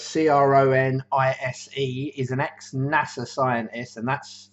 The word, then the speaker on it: Cronise: bit of paper because I always get his name wrong. Ray Cronise, so it's Cronise, is an ex-NASA scientist, and he's got a lot of stuff about intermittent fasting and cold therapy.